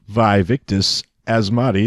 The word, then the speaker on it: Vaevictis Asmadi: I'm Dean guty and we're gonna talk about vive ictus as Mahdi the dire and that's how you pronounce it did you look it up I